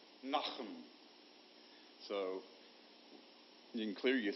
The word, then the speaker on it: Nahum: likes to pronounce it most of the Southern folks going to say Nahum and but if you were Jewish it's like knock them so you can clear